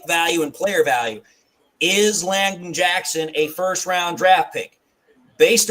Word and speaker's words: Landon Jackson: Another pick the Lions could make is Landon Jackson out of Arkansas. That's who I was referring to. I think I said his name wrong. Robert Langdon's what I said. Langdon Jackson, yeah.